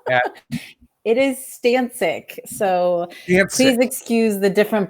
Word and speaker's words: Stancik: It is Stancik.